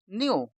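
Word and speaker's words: knew: जैसे के एन ई डब्ल्यू इसमें भी के साइलेंट है और एन ई डब्ल्यू ही पढ़ना है तो यह क्या बन गया न्यू इसी नो की सेकंड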